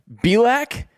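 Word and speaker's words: Bielak: McCullers Jr Jose or Keady and Luis Garcia bilack which is how I'm pronouncing his name b-i-e-l-a-k has been solid overall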